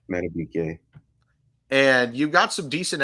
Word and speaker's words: Madubuike: You got Justin Madubuike, I believe it's pronounced, right? Madubuike.